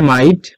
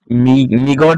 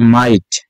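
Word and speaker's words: might: না কুড হবে মে মাইট এরা অনেকেই মিগট বলা বলে থাকে আসলে এটা মিগট না এটা হবে মাইট মে মাইট এরপরে মাস্ট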